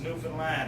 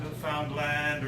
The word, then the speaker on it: Newfoundland: A blue star is also a beer, and it is pronounced Newfoundland, not Newfoundland or Newfoundland.